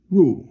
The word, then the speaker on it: 入: So now this next one is 内, which comes from 入. Now, 入 is like this. So remember, a person is like that, 人, but this is 入, fourth tone, that means to enter.